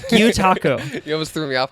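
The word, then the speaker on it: gyotaku: How do you pronounce this? Gyutaku. Gyutaku.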